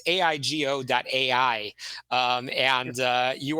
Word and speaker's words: Aigo: I don't butcher the uh pronunciation but it's aigo doai um and uh you are a leader in the space um Peter Vos welcome to the program yes thank you it's io.